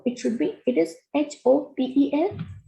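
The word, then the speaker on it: hôtel: So it should be, it is H-O-T-E-L. So we will not pronounce this H, it is hotel.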